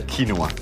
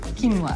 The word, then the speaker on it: quinoa: So, how do you say it properly? Quinoa. Quinoa. Yeah. Quinoa. Quinoa is an Andian grain.